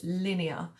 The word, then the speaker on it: Linnea: And this one, instead of with the I-A at the end, it's spelled L-I-N-N-E-A, Linnea. I guess it sounds a bit like linear, like in a line, but if you're all right with that, you know, cool.